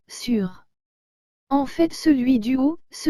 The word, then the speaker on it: sûr: sont les mots sur les deux se prononce sur fait celui du haut